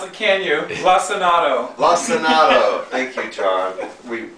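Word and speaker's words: Lacinato: You can't pronounce it, can you? Lissanato.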